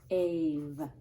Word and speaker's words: gave: Okay, gave. And I know that there's a quiet E at the end, because the E is telling his pal, the vowel, to say his name. Now it says gave.